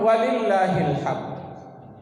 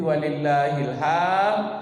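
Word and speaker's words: ولله الحمد: Ada juga yang salah mengucapkan walillahil hamd, Allahu Akbar, walillahil hamd. Salah apa benar? Salah. Yang salahnya itu apa? Panjang hamnya. Hamnya tidak panjang, hamnya pendek. Jadi bacanya bagaimana? Walillahil hamd. Pakai dal ujungnya.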